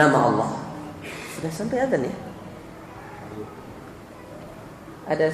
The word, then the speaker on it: Allah: Kan ada dua lam kan, al, lah. Kedua-duanya ditebalkan ketika dia tersendiri atau sebelumnya ada fathah atau dhammah, ya, maka ditebalkan lam itu dengan mengangkat punggung lidah ke atas, Allah.